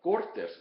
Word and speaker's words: Cortes: Cortes, of course, is the proper name, so the accent is on the second syllable. But Cortes, without the accent, means parliament, assembly, legislature, that type of thing.